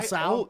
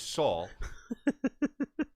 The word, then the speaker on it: Saul: Call Sal. I Better call always Sal. have been saying that. It's Saul.